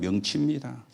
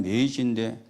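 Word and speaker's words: 明治: 일본에서 일어난게 메이지의 유신입니다 메이지 사람 이름이거든요 우리말로 발음하면 명치입니다 그게 일본말로 하면 메이지인데 그때부터 이제 막부 정치가 끝나고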